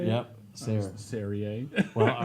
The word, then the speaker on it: Sayre: Sayre.